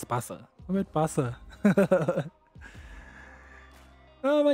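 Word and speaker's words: Barça: I'm at bias. Oh. Well, I don't know. I was got too excited there and I butchered the name. It's Barca.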